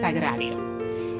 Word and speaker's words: Sagrario: So my name is actually pronounced Sagrario.